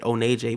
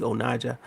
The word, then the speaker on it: Onaje: Onaje Harris, or not Onaja Harris, really. But I pronounce it Onaje, but it's really Onaja.